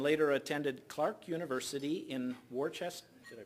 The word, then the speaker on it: Worcester: Terry grew up in Edina, Minnesota, and later attended Clark University in Worcester. Did I pronounce that right? Worcester. Oh, knew I'd massacre that. I'm thinking of the dark sauce. Worcester, Massachusetts, earning a degree in psychology and sociology.